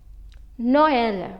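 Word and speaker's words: Noël: two dots do well when we have two vowels next to each other and both of them are pronounced as separate letters the dots help us to recognize that both the vowels will be pronounced separately so these hack songs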